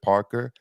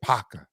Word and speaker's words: Parker: a stickler for pronunciation it's not Joseph Parker it's Joseph paraca paraca okay well Joseph paraca